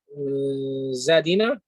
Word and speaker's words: Zadina: So this name you cannot pronounce it however you think. Zadina?